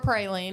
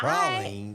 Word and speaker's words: praline: Anyway, today is National Proline Day or Praline, however you say it. I I Proline. I've never heard the word prolene. Yeah, that's how they say it where they are made.